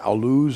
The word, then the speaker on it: Jebel al-Lawz: Jebel al-Lawz, or al-Luz, as you Al-Luz, say, as the Bedouin pronounce it.